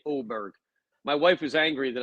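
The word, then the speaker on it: Åberg: guy interesting name Jee he's got a little circle over his a which I believe is some sort of Scandinavian pronunciation to make the a and o which I find me Jeff but you know in America people get angry at me if I say oberg my wife was angry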